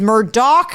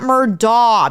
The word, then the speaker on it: Murdaugh: people mispronounce their name it is Murdoch not Murda because people in the South don't sorry guys don't know how to pronounce their own names I I about to